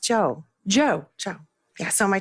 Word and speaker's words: Chou: so I can't bring myself to say where's Cho Simon's when it's pronounced Jo Jo Jo yeah so my Chinese name is